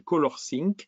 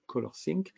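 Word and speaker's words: ColorSync: est fourni par Mac OS et qui s'appelle colorcink ça s'écrit c'est o l o R s y n C colorcing et vous pouvez carrément même afficher les profils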